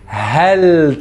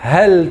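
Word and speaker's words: هيك: Hel taoulé. Chouf hel taoulé. Et oui, 3 lettres H-A-L. On n'oublie pas que le H se prononce comme hello, ce qui nous donne hel.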